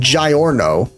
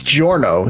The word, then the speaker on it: Giorno: Which, by the way, why are they saying Giorno? It's Giorno, the I is silent.